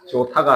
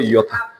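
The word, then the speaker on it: iota: 그래서 뭐 그 다음에 이오타. 조타가 아니고 이오타.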